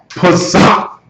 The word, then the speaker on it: Pesach: Pesach, and it's spelled S-C.